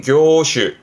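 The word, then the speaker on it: 業種: 발음은 쇼크슈. 여기다가 앞에 하나 더 붙습니다. 그렇죠. 업자. 그래서 업종을 말하면 교슈.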